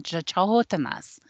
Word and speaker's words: Canotina: Bigfoot, they call them Chahotanas. And it's actually spelled Canotina, but it's pronounced Chahotana.